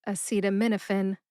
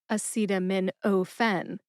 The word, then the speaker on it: acetaminophen: But actually, we pronounce it fin, like the fin on a fish. So it's a super short E sound. Fin. American healthcare professionals say acetaminophen, not acetaminophen.